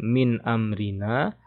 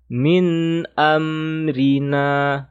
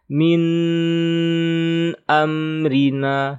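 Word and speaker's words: مِنْ أَمْرِنَا: Nun sukun bertemu alif adalah izhar. Maka dibaca jelas ya. Tidak dibaca dengung, gunnah, ataupun panjang. Jadi kita membacanya biasa saja. Min amrina. Jangan ditahan. Min amrina. Salah. Yang benar. Min amrina. Oke. Ini mim juga teman-teman. Hati-hati ya. Jangan dipantul. Min amrina. Jangan ada e. Yang ada e itu qalqalah.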